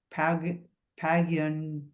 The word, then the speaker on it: paguen: depende de que paguen sus amigos. How do you say that one again? Paguen? Paguen. Paguen. The GU is just a G.